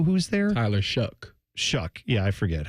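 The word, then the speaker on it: Shough: And the Saints appear to have is it Tyler Show who's there? Tyler Shuck. Shuck. Yeah, I forget. How do you say I'm not planning to learn rhymes with duck?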